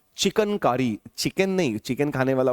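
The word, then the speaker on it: chikankari: तो चिकन नहीं बोला मैं, चिकनकारी। देखिए स्पेलिंग में गड़बड़ मत करिएगा, चिकन, ये पंछी, चिकन हो गया, ठीक है ना। और यह है CHIKAN, चिकनकारी।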